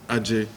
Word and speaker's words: Ajay: they janna eventually told me the pronoun correct pronunciation is ajay but if someone asked me like okay what